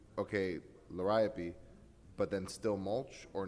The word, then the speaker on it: Liriope: How do you pronounce number 2? Liriope? Liriope.